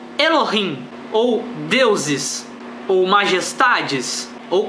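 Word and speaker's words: אלוהים: Bíblia, a palavra usada é a segunda, que pronunciaria-se Elohim, ou deuses, ou majestades, ou como você quiser traduzir, mas significa o plural de alguma coisa majestosa, de alguma coisa superior.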